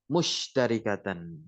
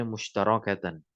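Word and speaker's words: مُشْتَرِكَةً: Li'annal musyrikina yuhibbunallaha mahabbatan musytarikatan. Ya, musytarikatan. Ada pula yang membacanya mustarakatan.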